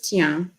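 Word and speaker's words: cyaan: But I remember there's like one particular word, which is Tian, and you would spell it Cya.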